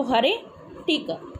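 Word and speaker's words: heretic: यहाँ पर, टिक, तो हरे टिक, हेयर टिक, ऐसे आप याद रखोगे इसको, हरे टिक। तो ऐसे आपको लर्न करना है। वैसे इसकी प्रोनाउंसिएशन हेरेटिक होती है, पर हम यहाँ पर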